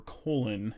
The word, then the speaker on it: Cologne: the euro blast fest in cologne germany or colon if you do not know how to pronounce it correctly so cynic are all